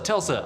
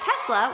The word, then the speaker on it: Tesla: We bought a Tesla, which I almost said Telsa because Jason mispronounces it, and this is one